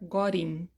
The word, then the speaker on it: got in: com got in ou pronunciado com inglês americano standar gorin tá Gin então a